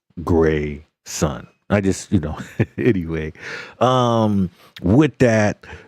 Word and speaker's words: Grayson: The name is pronounced Gray Sun.